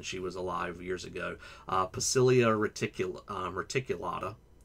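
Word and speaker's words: Poecilia reticulata: was alive years ago, Pacilia reticulata, actually C's in Latin are all hard, so I guess it would be Pocilia reticulata, but who knows how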